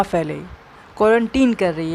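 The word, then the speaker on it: quarantine: अब देखते हैं अपना अगला वर्ड, जो कि है क्वारंटीन। इसकी प्रोनाउंसिएशन है क्वारंटीन, नॉट क्वारंटाइन। क्वारंटाइन कुछ भी नहीं होता है।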